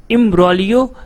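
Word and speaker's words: imbroglio: Hydroxychloroquine जो starting में आपने देखा होगा, हाइड्रोक्सीक्लोरोक्विन इम्ब्रोलियो, दैट मीन्स यहाँ पे जी क्या है, इसका साइलेंट है, तो इम्ब्रोलियो दैट मीन्स उलझन।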